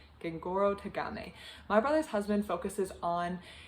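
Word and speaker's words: Gengoroh Tagame: written down so i can say it correctly gengoro tagame my brother's husband focuses on a man in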